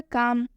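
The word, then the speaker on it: calm: यहाँ पर लिखा हुआ है काम, इसे हम पढ़ते हैं काम। ठीक है, यहाँ पर ये जो एल है इसका उच्चारण कहीं पर भी नहीं हुआ है।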